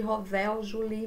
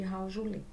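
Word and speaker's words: Howell-Jolly: Se escreve corpos de Rovel-Juli, mas se chama, né, corpos de Raujuli.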